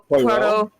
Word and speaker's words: Poirot: How do you pronounce that? Oh god. Poirot.